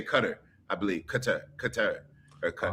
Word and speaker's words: Qatar: We say Qatar. They say Qatar.